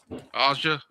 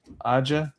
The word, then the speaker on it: Aja: I don't know how you pronounce Aja. Is that how you pronounce his name? Aa. Aa.